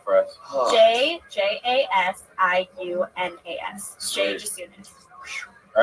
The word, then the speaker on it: Jasiunas: Oh. You have a weird last name. Just soon as the I is silent. Spelled out for us. Oh. JJASIUNAS. Jay Jasunas.